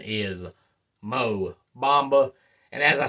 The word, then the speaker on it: Mo Bamba: traded Patrick Beverly to the Orlando Magic for MO mamba or some say Bamba but the correct pronunciation is Mo Bamba and as I said those are the Blockbuster